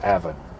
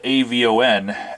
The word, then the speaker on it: Avon: Who was the Bard of Avon?